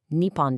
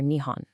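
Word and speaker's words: 日本: Nippon is for formal, national, and official declarations. Nihon is for common, everyday use.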